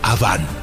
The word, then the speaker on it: Awan: El nombre de la esposa de Caín era Awan, A-W-A-N. En hebreo, Aven. Se pronuncia Aván.